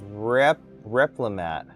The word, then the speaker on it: Replimat: It's Replimat.